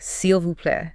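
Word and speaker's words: s'il vous plaît: The formal super useful one is seu play pronouncing carefully seal vu play and you can hear the vu right in there right that tells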